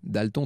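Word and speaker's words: d'Alton: d'une vieille famille irlandaise mais on avait coutume à l'époque de prononcer à la française pour une fois dalton d apostrophes haletant pour une fois c'est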